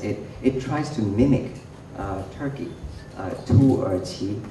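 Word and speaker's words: 土耳其: Tu Erqi is how you pronounce it in Mandarin.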